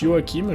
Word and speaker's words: Joaquin: lio hakim phoenix oui ça se prononce yoakim je serais pas où